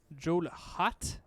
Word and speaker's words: Johelot: so Kenny walling up the front once again jeweled hot there you go that's the correct pronunciation oh is it actually like the hot